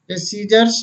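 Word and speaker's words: scissors: सी यदि एस के तुरंत बाद आए या के और क्यू से ठीक पहले आए तो सी साइलेंट रहता है। देखें सीजर्स मीन्स कैंची, असेंड मीन्स चढ़ाव, मसल मीन्स मांसपेशी, सीन मीन्स दृश्य, एक्वायर मीन्स प्राप्त करना, एक्नॉलेज मीन्स प्राप्ति सूचना।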